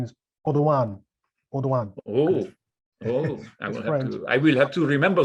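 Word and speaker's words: Audouin: the uh well in britain we call it alduin's goal but the correct pronunciation is odon i will have to remember that all right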